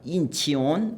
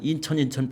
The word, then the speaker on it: 인천: 런치에다가 EON을 붙인다고요. 런천 그런다고. 런천 발음을 해요. 그게 CHEON이에요.